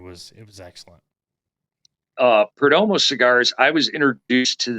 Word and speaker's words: Perdomo: you uh turning me on to was it Perdomo am I saying it right almost cigars yup